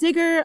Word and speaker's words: Zigger: Zigger is pronounced like Tigger.